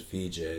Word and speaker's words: Vijay: To just do it's a V and a J, but it's really spelled Vijay, like VJ Singh, like the golfer.